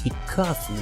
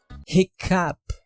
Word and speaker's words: hiccough: so the pronunciation is hiccough, right? Nice try buddy But The right pronunciation is “hiccough” —which goes from the “F” sound to a “P.”